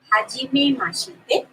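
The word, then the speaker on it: Hajimemashite: So, ha, ji, me, ma, shi, te.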